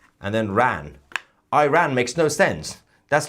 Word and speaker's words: Iran: Iran is Iran. It comes from the Aryans, the land of Aryans. You can't just separate the two words, say I, and then ran. Iran makes no sense.